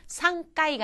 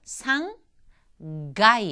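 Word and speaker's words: 三階: 근데 기본적으로 3층 했을 때는 상까이가 아니라 상 가이 하는 식으로 타금으로 발음난다는 거. 상가이.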